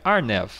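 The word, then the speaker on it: RNAV: fora delas aí veio R nave em inglês se pronuncia ar neve de arenavision o RNA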